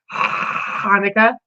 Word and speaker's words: Hanukkah: It's actually pronounced Hanukkah.